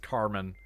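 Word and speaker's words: Kármán: off that that's pronounced Carmen.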